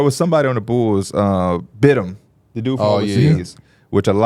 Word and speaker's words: Batum: How do you pronounce it? Bidham.